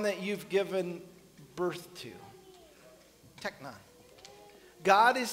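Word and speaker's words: τέκνον: There's a specific one used here, and it's called technon. That's the Greek pronunciation of the word children.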